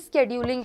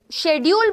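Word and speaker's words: schedule: बात चल रही है, स्केड्यूलिंग की। तो देखते हैं क्या है द स्केड्यूल। अच्छा, पहले इसे शेड्यूल बोला जाता था, अब इसे स्केड्यूल इस तरीके से प्रोनाउंस करते हैं, ठीक है।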